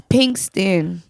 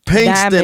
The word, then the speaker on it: Pinkston: let it FL people it's Pinkston Pinkston I said pick it